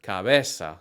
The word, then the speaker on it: cabeza: For the hard C sound, like in the word cabeza, the C sounds like a K if it comes before an A, O, U, or consonant.